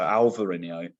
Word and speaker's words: Alvarinho: So the B is replaced with a V. So Alvarinho.